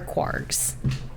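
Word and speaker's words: kwargs: Well, it sounds like quarks, but with a G.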